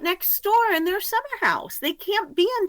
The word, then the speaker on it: Akershus: It is summer house, but I get made fun of often when I say it correctly. So I thought I'd go for the common pronunciation tonight.